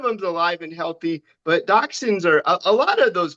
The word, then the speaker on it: dachshund: Well, we had they had two dachshun. So, the thing about my mom grew up with dachshunds. So, every pet we've ever had Well, I had you pronounce boxins.